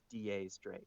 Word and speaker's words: X Drake: really weird because they they spell his name x drake but like they pronounce it like da's drake like ten but like spanish for ten oh but yeah so